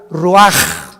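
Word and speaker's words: רוח: capítulo y exhaló Isaac el Roach así como suena se pronuncia la ciah en hebreo como J Roach se les halló y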